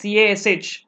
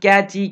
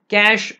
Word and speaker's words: cache: then it's pronounced as Cas just like how you pronounce cache see I said that's what it is pronounced don't use funny names like catchy catch and all that okay cash memory so two of